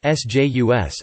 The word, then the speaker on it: Seuss: Geisel's most famous pen name is regularly pronounced Sjus, an anglicized pronunciation inconsistent with his German surname. The standard German pronunciation is, he himself noted that it rhymed with voice, his own pronunciation being SS.